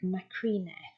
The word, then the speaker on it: Macrine: Well, it was actually common for names ending in us, when transcribed in Punic, to be written without the final S. So this would be pronounced something like macrine.